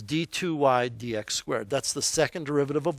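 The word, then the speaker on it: d²y/dx²: really wrong that's pronounced d2y dx squared so we pronounce the two on the bottom as if it were an exponent and we pronounce the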